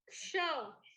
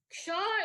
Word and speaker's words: ksha: Another is ksha. Multiple people pronounce it as at cha. Еще одна особенная буква для примера – это кша. Многие произносят ее как чха. Wherein ksha is the outcome of ka and cha.